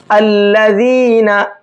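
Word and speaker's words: الذين: अब ये अलिफ है तो अलिफ नहीं, फिर ये हमजा बन जाएगा और उस पर लगेगा जबर, अल्लज़ीना अल्लज़ीना, ठीक है।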